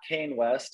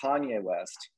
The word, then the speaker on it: Kanye West: so i'm talking about not kane west i'm talking about kanye west boom you got it